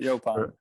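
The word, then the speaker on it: yaupon: All right, Yopon. I got it. The Sumter correct County.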